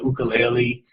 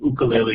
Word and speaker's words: ukulele: learns to play the ukulele and he points out that he calls it an ukulele because that's the pronunciation of the origin of instruments as opposed to the ukulele um he learns to